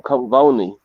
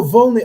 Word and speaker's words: Volney: stuff her right because it's necessary i'm um vani he wrote the book oh volney oh sorry i did not understand the way pronouncing yes yes he has a very famous